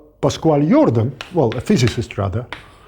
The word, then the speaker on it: Jordan: Of course, there was the French mathematician Camille Jordan, who is pronounced in Russian like Jordan. Well, that depends on how French you try to sound, but the N is sort of slightly there, but not quite there.